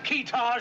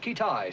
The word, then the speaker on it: Kitaj: Have we located this fella Kitaj yet? Pronounced Kitai, sir.